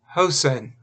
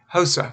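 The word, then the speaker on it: Hosah: fell to Shepam and Hosen. Hosa rather, excuse me, I keep pronouncing that H as an N.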